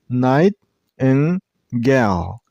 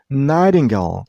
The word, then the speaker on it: nightingale: This bird name has three syllables. Nightingale. Nightingale.